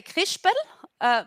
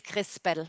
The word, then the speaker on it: Krispel: crispo some people say krispel but in the correct way it's crispel with an s not with an sch how you find the